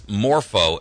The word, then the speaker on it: MorphoTrust: to third parties it's morpo as let me spell that for you m like Michael o r p like Peter H like Hotel o trust that's Moro trust like morph like morphing into something and uh its name